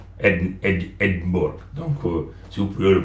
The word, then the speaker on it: Edinburgh: Mais la capitale d'Écosse, ce que nous appelons la capitale financière et administrative, c'est Edinburgh. Edinburgh. Donc, si vous pouvez le prononcer en français, c'est Edimbourg.